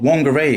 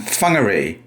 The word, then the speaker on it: Whangārei: What's the capital of Northland? It's called Wanger in English and funer in Tio.